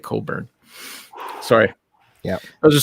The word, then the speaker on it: Cockburn: burn that's a canadian because there's a guy called bruce cole cockburn but it's he pronounces it coburn sorry yeah it was